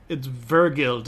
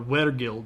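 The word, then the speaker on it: wergild: It's vergild or weregild. It's not weregild, right?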